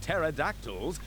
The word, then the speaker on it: pterodactyl: there's only the t-rex one of the best known facts about pterodactyls is that they have a silent P which they use to